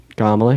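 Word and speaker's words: Kamala: of the Second Amendment kamla Harris first of all is how you pronounce her name and second of all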